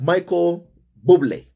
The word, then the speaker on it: Bublé: And Harry and Meghan were joined at their table guests, you know, with friends like Michael Bublé. I'm told that that is how my family is pronounced.